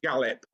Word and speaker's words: Galip: His name's Galip. If Gallup?